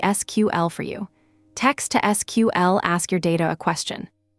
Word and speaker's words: SQL: Databases are queried in a language called structured query language SQL usually pronounced SQL.